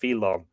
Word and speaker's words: fidlann: I said fiddler. Fidlann is probably pronounced Philon, which occurs in the second vision of Adavnon, denoted some kind of necromantic divination.